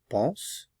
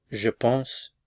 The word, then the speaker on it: pense: A pronunciation tip, remember that for most regular ER verbs, the je, tu, il, elle, on, and the plural il, elle form are all pronounced the same. So, pense, pense, pense, pense. Je pense, tu penses, il pense,